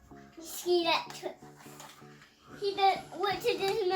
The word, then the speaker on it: Scalextric: Scalextric. Scalextric.